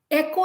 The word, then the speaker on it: echo: for example the word echo okay echo echo is not e c k o or e k o this e e-c-h-o echo so the h is silent so similarly a lot